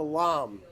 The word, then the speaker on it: lame: got this little tool it's called the lam it's spelled lame l a m e but the French lamb so what you do